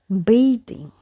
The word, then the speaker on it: bathing: Here letter TH have the sound, okay, but when we add ing here, letter A and TH change their pronunciation. So it doesn't remain the same as we have in bath. So it becomes bathing. Bathing.